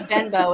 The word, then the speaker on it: Benbow: Because I said I'm Benbow, and he's like, Benbow? And I'm like, Benbow. I just think we should start pronouncing it Benbow, but whatever.